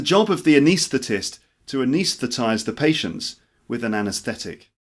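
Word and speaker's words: anaesthetize: this it's the job of the anesthetist to anesthetize the patients with an anaesthetic it's the job of the anesthetist to anis that there are it's the job of the anesthetist to anesthetize the patients with an anesthetic all right number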